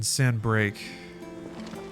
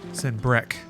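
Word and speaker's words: Sanbreque: The Croc in Sandbreak. Sandbreck. That's how they say it.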